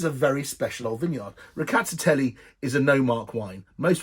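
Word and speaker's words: Rkatsiteli: And this used to be a straight Rakatsiteli. Yes, I said that. Rakatsiteli. If I show you how that's spelled.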